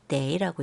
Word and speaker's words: 得: 여기서는 더가 아니라 데이라고 있습니다.